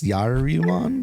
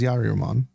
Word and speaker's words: Yaruman: That is That's uh his Yariman. My bad. I've been saying it wrong this whole time. His Yaruman. Okay. Could actually read it that time.